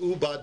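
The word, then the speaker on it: עבד: But hashlu dichsiv avad v'karinan ubad dumya de avad ma avad denichale af ubad denichale. So the Gemara now says we learn from the pasuk that it's pronounced ubad, but it's spelled avad.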